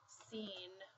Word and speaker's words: cinco: So how you would pronounce these, this word would be cinco. And you would do that, the first C sounds like an S because it's next to an I, and the second C sounds like a K because it's next to an O. So you would say cinco.